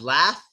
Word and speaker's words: laugh: Like here you have laugh. The GH shows the F sound in this.